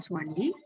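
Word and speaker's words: Soewandi: Nah, jadi mulai di ejaan Republik atau ejaan Suwandi ini, meskipun namanya Sowewandi, tapi mengubah oe menjadi u gitu ya. U saja, nggak usah oe-oe gitu ya.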